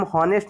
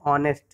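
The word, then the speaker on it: honest: तो इसे हम हॉनेस्ट नहीं पढ़ते, इसे हम पढ़ते हैं ऑनेस्ट। एच जो है क्या हो जाता है, अंडरस्टूड हो जाता है।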